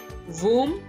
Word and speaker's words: womb: वूम, यहाँ पे इसकी प्रोनाउंसिएशन थोड़ी डिफरेंट है. सिंगल ओ है लेकिन हम यहाँ पे ऊ की साउंड, ये रूल मतलब बगैर कह लें, यहाँ पे रूल डिफरेंट है इंग्लिश का.